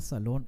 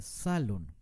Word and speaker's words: salón: palabra salón la palabra salón es una palabra aguda porque no se dice salón se dice salón con mucho énfasis en la última sílaba terminan n entonces debemos